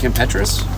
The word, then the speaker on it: Kim Petras: Again and also today I was listening to Kim Petras. Mhm. That's how that's pronounced her newest record.